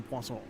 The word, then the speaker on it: Poisson: Speaking of that, I think magic shows would be very popular in Poisson. I knew that's how you actually pronounced it.